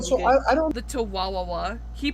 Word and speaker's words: Tawawa: He pronounces it with 4 syllables when there's 3. I don't know. This is a nitpick for me. It's Tawawa. Tawawa, not Tawawawa. You make it sound like you're saying Chihuahua, you fucking nincompoop.